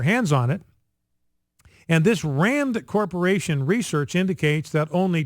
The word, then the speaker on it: RAND: Now, there's a RAND Corporation, R-A-N-D, like Rand Paul, completely different, but spelled the same, pronounced the same.